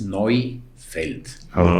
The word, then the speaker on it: Neufeld: un poco elongo eu en alemán se pronuncia hoy hoy por ejemplo los alemanes no dicen euros dicen oiros no dicen Europa dicen oopa entonces mi apellido llega el diptongo euu y se pronuncia o entonces noi feld no es nuevo en alemán y feld es campo